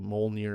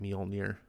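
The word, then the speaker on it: Mjölnir: it was fun seeing beta ray bill wield mole near again um i didn't pronounce that right mjolnir it's hard to say um that was really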